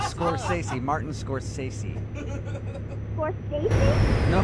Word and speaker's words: Scorsese: It's Scorsese, Martin Scorsese.